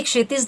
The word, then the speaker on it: क्षितिज: ठीक है, जब आप क्षितिज शब्द का उच्चारण कर रहे हैं तो दोनों ही ध्वनियों की और आपकी दोनों ही ध्वनियों पर जोर पड़ रहा है, क्षितिज। ठीक है, तो मतलब आपकी क्या होगी, दोनों ध्वनियां छोटी, क्षितिज, ये वाला आपका सही होगा।